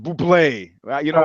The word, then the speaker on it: Bublé: Bublé. He says born Bublé, pronounced Buble.